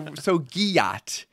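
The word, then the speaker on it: gyatt: Okay, so giat rhymes with yacht, and it means big butt.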